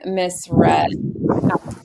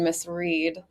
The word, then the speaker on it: Miss Red: to be number nine Miss red used with the pronunciation missread but our backside correspondent Abby Huffman confirmed with Tommy jury it is pronounced missred at 7 to2 I'm